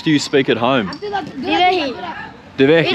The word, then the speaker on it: Dhivehi: Divehi.